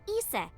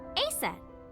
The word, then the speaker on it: Isis: Horus's mom is named Isis, but in ancient Egyptian, it's pronounced closer to Isa or Asa.